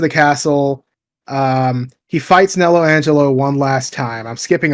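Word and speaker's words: Nelo Angelo: is I forgot it nello Angelo n Angelo yes not not Nero Angelo nello Angelo thank you Engish but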